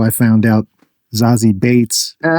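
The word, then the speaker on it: Zazie Beetz: That's how I found out Zazy Bates. Oh. Is pronounced Zazy Bates and not Zazzy Beats like it's spelled.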